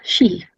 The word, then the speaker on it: Qi: as Tai Chi, or known as Qi or Kai. It's pronounced Shi, believed to flow through the pathways, the meridians through the body.